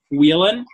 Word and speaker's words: Whelan: how do you say your last name Justin wheelon that night Weyland Weyland Weyland and it's kind of funny how